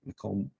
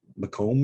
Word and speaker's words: Macomb: only land but people Macomb Macomb as we would pronounce his name now was was one of